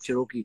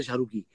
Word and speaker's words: Cherokee: So I said, sir, thoda classic karte hain, Cherokee karte hain, Jeep Cherokee. So he could never pronounce Cherokee. He would say Sharuki.